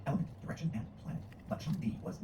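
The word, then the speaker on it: 上帝: It's pronounced Shangdi and basically means highest god.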